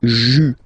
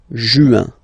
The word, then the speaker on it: juin: Okay, and then here, well, it's a bit tricky, but still, IN goes like un, okay, and then you get juin, juin. Okay, let's see them one more time. Janvier, février, mars, avril, mai, juin.